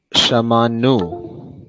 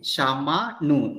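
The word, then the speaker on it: שמענו: So ayin is not pronounced, but there is a guttural stop.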